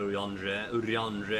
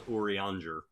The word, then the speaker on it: Urianger: Alright, Urianger. I can't believe I was pronouncing his name wrong. I thought it was Urianger.